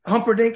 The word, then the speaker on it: Humperdinck: You mentioned it, The Princess Bride, where you played Prince Humperdinck.